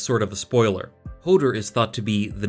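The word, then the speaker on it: Höðr: the Norse and Germanic god Hodr, or Hodr, to use the Old Norse pronunciation.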